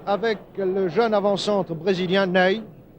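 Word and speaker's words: Nenê: le jeune avant-centre brésilien nêne cela s'écrit comme notre maréchal ney mais ça se prononce name et il peu voici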